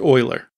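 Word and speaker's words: Euler: body rotation equals querian Oiler and yes it is pronounced Oiler which is also an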